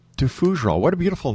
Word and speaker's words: Fougerolles: It's pronounced FOUGEROLLES. FOUGEROLLES.